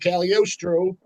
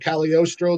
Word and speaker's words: Cagliostro: Yeah, so we're back in part two with Cagliostro. Said it right that time? Somehow right. Said Cagliostro, the singer of Attic.